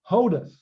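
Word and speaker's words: ὁδός: Down here it's Otis. See the rough breathing right there. Oh, Hodus. Hodus got an H in front of it.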